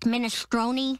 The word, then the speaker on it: minestrone: I get his mind thrown Lenny it's pronounced minestrone I call it - drone cuz it's not